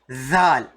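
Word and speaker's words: ذ: This zai also, is not the same as zal. There's a difference, right? While making this zal sound, your tongue will be a little bit out. Zal. But zai, you will have your tongue inside.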